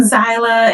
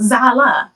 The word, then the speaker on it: Zala: They be saying Zyla, and even when I hear them say Zyla, I stop them. I be like, it's Zala, not Zyla, Zala.